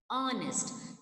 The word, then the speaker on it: honest: Honest. The word is starting with H, but H sound is not said there. It is not pronounced.